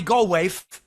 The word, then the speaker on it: Goldthwait: BOBCAT GOLDTHWAIT, or Bobby Goldthwait, as all the Boston guys pronounce it.